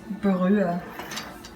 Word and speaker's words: Brühe: Elodie always tries to make English words German by just pronouncing them the way a German would. Broth is Brühe. Can you say that? Brühe.